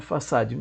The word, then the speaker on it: façade: abrir um parêntese a em muitos meios a pronúncia façade as pessoas estranham chapéu faca e depois Aparecida então a a pronúncia do padrão é façade me bem por favor